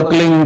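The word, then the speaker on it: क्लीं: की मात्रा और बिंदी, उसका उच्चारण होगा क्लिंग। गा की ध्वनि निकलेगी पीछे।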